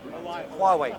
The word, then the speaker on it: Huawei: Private ones like Huawei, I mispronounced. Huawei.